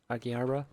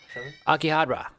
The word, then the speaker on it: Akihabara: aqua harbor yeah how do you say that akihabara japan akihabara akihabara yeah japan they had that sega arcade